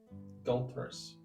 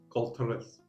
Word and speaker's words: Galters: Galters. Galters. Okay. Sounds like adulteress.